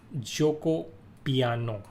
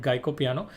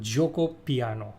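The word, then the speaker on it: Giuoco Piano: opening sub say most played out opening is Joko piano okay this is the most played out opening like it's also the most mispronounced opening a lot of people call It geop piano it's a Joko piano okay uh also it's also known as Italian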